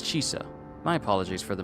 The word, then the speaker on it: Chisa: I've been calling her Chisa, but it's Chisa.